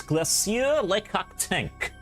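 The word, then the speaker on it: Glacier Le Cactank: I put a French accent on whenever I pronounce that name. Because it sounds like there is one.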